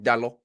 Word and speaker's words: Dalot: Yeah, I've learned from Paulo that any kind of Portuguese pronunciation, you just sort of chop off the end of the word a little bit. Yeah, it just comes to a silent end. Diogo Dalot. There's no OT.